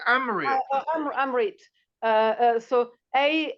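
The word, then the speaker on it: Amrit: you come back again so how do you spell that how do I spell um you say Amit Amit uh so a m r i t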